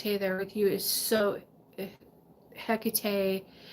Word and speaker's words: Hecate: with you is so Hecate heck it whatever whatever your custom to calling her for me the H is silent so I say a cocktail okay but having she's